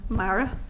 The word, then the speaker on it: Marra: taking the time Mar can I check that I have pronounced your name correctly is that marra marra that's that's great thank you um I